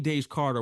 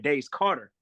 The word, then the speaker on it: Daze Karter: you get how did you get your name da Carter what's the meaning behind my mom my mom